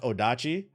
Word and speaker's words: odachi: we've seen these before games that BBC is pronounced odachi okay uh and then what's the is this